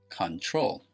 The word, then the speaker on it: control: the verb control control control it is not pronounced control chondro the stress is on the second syllable we have consonant verb